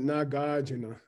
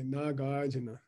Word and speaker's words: Nagarjuna: Lu is Naga. Drup, which means warrior here, is Arjuna, the famous warrior of the Bhagavad Gita. Okay. So Naga Arjuna. So we should pronounce it Nagarjuna. Okay. Nagarjuna.